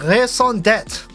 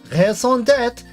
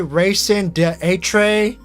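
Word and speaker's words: raison d'être: You know how long it took for me to master the French R? If you pronounce that wrong one more time. I'm trying, okay? Me and Rabbit are gonna explode. I'm trying my best. I'm trying my best. What do you want from me? Do you want me to pronounce it wrong on purpose? Do you want me to say racing d'etre?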